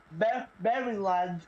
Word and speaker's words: Maryland: Maryland, Illinois, Virginia, and Washington. It's pronounced Maryland, by the way.